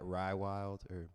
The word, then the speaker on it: Raiwylde: Like Rai, it's so much easier when you think of it too. It's like Rai and then Wild, and the Wild is like, it's like just spelled with a Y.